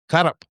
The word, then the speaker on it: Kaerup: From Denmark is young Marcus Kaerup. Hello. Did I say your last name right? Yeah, Kaerup, yes. That's exactly how you say it.